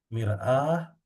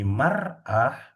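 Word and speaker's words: مرآة: Kalau mirat ini a-nya panjang ya, Pak. Mirah. Miraah artinya cermin. Heeh. Cermin. Kalau tanda bacanya dikeatasin jadi marah berarti wanita. Nah, itu jangan sampai salah.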